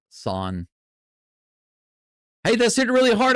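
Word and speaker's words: san: Pronounced like s a h son. Not son, but son.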